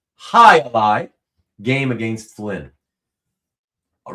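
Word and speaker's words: jai alai: That's pronounced High-a-Lie game against Flynn.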